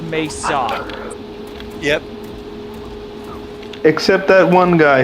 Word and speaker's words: Mesa: Yeah, anyone who's played Half-Life knows it's pronounced Mesa.